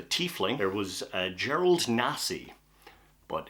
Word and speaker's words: Tiefling: There was Tyler Fling, but he goes by Ty, so that was Ty Fling, the Tiefling.